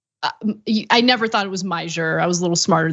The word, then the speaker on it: Meijer: his name, but I didn't know how to pronounce his name correctly until today. I kept thinking it was Mayor. I never thought it was Meyer.